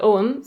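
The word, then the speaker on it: Ogham: what om is but om which is spelled o g h m for any of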